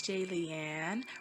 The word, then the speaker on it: Jaylian: pain was hey it's jay leanne rhymes with alien like if you're a fan comment and subscribe hello my name is jaylian let's get started what